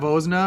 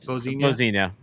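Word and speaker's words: Vozinha: And this is their pre-match kit that they have, and you might notice is that Vozna or whatever his name is? It is Vozina.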